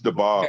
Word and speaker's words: Daboll: Brian, is it DeBall or Dobbs or DABOLL? That's DeBall. Anyway, it shows that DeBall was already, picked for them.